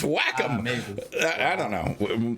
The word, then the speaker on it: Wacom: Oh, and so on a tangent, we used to argue about the pronunciation of that, right? I used to say it was Wacom, and other people would say.